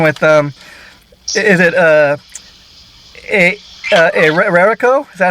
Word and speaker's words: Aeraco: to be speaking with um is it uh a a rarico is that how you pronounce the name of the band uh erico erico so i'm speaking with erica uh drummer uh